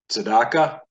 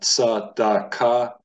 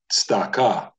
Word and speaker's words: tzedakah: But if we were to technically pronounce this in the correct way, because there is a shva beneath the tzade, a shva is not a full vowel. So it's not tzadaka, it's tzdaka.